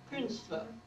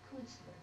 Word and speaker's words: Künstler: I figured you would be, can you pronounce that word that starts with K? Künstler. Künstler.